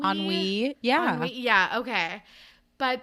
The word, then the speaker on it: ennui: I think it's ennui. Ennui.